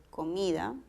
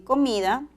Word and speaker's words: comida: ejemplo comida observar aquí comida en comida el acento está en mi comida humano el acento prosódico